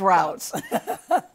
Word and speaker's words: routes: Who, and I had to ask you, what's the pronunciation? Is it roots or routes? Right, It's routes.